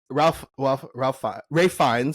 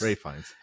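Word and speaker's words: Ralph Fiennes: Oh, and then it is Ray Fiennes. Ray Fiennes is the he has to pronounce his name weird.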